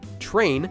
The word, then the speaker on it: train: For example, the English word train is actually pronounced with a ch sound, although it's spelled with tr.